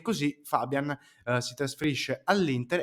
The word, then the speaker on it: Fabbian: Come dicevo, parliamo di Giovanni Fabian, anzi, come ha detto lui stesso, il suo cognome si pronuncia Fabian.